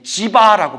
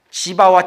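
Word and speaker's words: जीव: 지바라고 불러요. 지화. 지바. 지바와 지와 중간 발음이더라고요.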